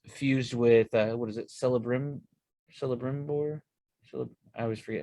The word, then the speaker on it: Celebrimbor: Talion, who is fused with what is it, Celebrimbor? I always forget how to say his name. You're on it, Celebrimbor.